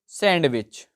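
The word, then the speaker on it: sandwich: भी बताया था मैंने व्हिच letter is silent in the word सैंडविच तो सैंडविच पढ़ते हैं लेकिन वो होता है हमारा सैंडविच तो डी हमारा साइलेंट होता है सैंडविच व्हिच लेटर इज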